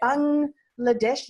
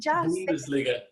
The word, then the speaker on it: Bundesliga: Bangladesh? Bundesliga.